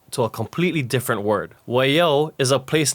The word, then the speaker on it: Waiau: Although people commonly read Waiau and pronounce it as Waiau, an incorrect way of saying it.